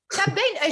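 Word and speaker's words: Cad Bane: Alors, pareil, je suis nulle à la prononciation. Cab Bane. Cab Bane, j'étais pas loin.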